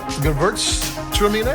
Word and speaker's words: Gewürztraminer: I mean, a lot of people just call it Gewürz, which is like the hardest part to pronounce. The Traminer part's pretty easy, but sometimes you just hear it said as Gewürz.